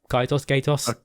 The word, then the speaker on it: Kaitos: We've got Bates and Kaitos 1 and 2 HD remaster, which were a couple of GameCube JRPGs from back in the day. What are they called? Bates and Kaitos, I think it is. Kaitos.